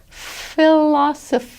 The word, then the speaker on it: philosophy: There, that PH is pronounced like an F. Philosophy, bibliophile, because a PH is not pronounced as a P, P plus an H, it's pronounced as an F.